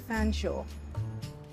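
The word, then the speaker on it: Featherstonehaugh: name was Jane and Shaw is how you pronounce the end of fan Shaw why in the world would you pronounce something spelled feather Stone ha fsha I'm sorry that's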